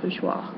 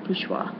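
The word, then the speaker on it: bourgeois: The next word is French word and it is pronounced bgeoa. All right. Baja. And it is a noun or an adjective. Bajgeois.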